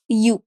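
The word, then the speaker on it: ewe: और इसको अगर आप लिखेंगे तो यू, ओके? अ यू, तो एन यू नहीं बोलेंगे, इसको क्या बोलेंगे? अ यू, ठीक है? आई सॉ अ यू। तो भले ही इसकी स्पेलिंग ई से स्टार्ट है लेकिन इसकी जो प्रोनाउंसिएशन है वो या से है, इसलिए हम अ का प्रयोग करेंगे, एन का नहीं।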